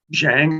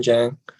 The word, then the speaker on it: Zhang: my name is Zhang is that the way it's pronounced yes yes Jang Jang uh